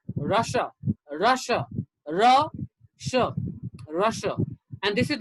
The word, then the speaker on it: Russia: is completely different so in hindi we say ruse but in english it's russia russia russia and this